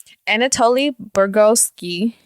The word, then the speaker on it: Anatoli Bugorski: Anatoli Bugorski.